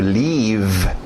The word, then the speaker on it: leave: Último verbo de hoje, to leave. To leave. Vocês que queriam falar aquele verbo to live, viver ou morar, como este aqui, som de I, é outra coisa.